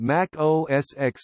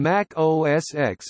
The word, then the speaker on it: Mac OS X: The X in Mac OS X and OS X is the Roman numeral for the number 10 and is pronounced as such.